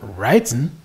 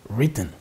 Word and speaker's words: written: written five letters mine the pronunciation of written is not writen but it is written number six she not